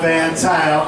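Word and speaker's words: Van Tuyle: That's V-A-N-T-U-Y-L-E, and that rhymes with style. And when you say it, you smile, because that's my name, Van Tile, and I am down with a blunt.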